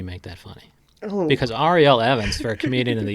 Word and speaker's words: Ariel: If you were to run for office and just be hilarious doing it, what would is it Ariel Evans or It's Ariel? Ariel. Yes. Ariel Evans. I've been saying it wrong.